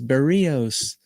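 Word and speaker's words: Berríos: And I know people in the chat who have nothing better to do are going to say, "You're pronouncing his name wrong. It's Berios.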